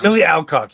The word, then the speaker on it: Millie Alcock: I think it's Millie Alcock. You're right. Yep. House of Dragon star Millie Alcock.